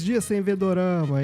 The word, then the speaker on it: dorama: Na verdade, o dorama, ele é a pronúncia japonesa de drama.